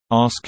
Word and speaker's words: ask: Ask equals ax no, people. There are only 3 letters in the damn word. Get them in the right order.